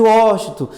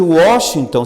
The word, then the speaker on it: Washington: Por mais que a pessoa fale Washington, a única pessoa que me chama de Washington, certinho, pronunciando, é minha avó, que é paraguaia.